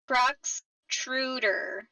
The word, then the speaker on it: Cruxtruder: Cruxtruder. It extrudes crux.